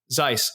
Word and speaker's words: Seuss: I recently found out it's pronounced Dr. Seuss, Zeiss, Seuss. I'm still probably saying it wrong.